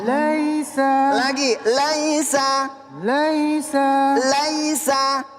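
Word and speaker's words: ليس: Laisa. 1 2 3. Laisa lagi. Laisa. Laisa. Laisa. Laisa ini jangan laisa ya. Jangan dibaca imalah ya. Jangan dibaca imalah. Di sini dibacanya mad ee lin lentur.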